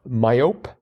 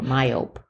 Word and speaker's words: myope: myop like but no it turned out to be myop with silent e at the end but uh yeah I'd never heard that word before myope yeah I would have